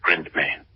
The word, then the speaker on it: Ghryndtmaen: She pronounced her name like Ghryndtmaen.